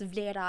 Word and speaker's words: Vlera: I was like, yeah, technically no one says my name right. And he was like, well, how do you say it? And I'm like, well, technically it's Vlera.